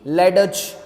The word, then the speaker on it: ledge: Answer is true, because in the word ledge we do not speak D, we do not speak D. Ledge, no. D is silent, we directly speak ledge.